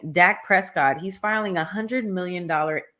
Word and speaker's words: Dak Prescott: is that how you say his name yep Dak Prescott so Dak Prescott is the quarterback for the